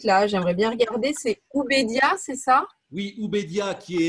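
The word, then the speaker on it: Ubeidiya: C'est Ubédia, c'est ça? Oui, Ubédia, qui est crédité d'avoir 1,4 million d'années. Ça s'écrit comment?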